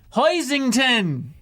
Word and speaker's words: Hoisington: It's pronounced Hoisington.